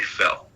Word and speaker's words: Fell: It's Barry Fell. Fell? Yeah, fell, as in you just fell.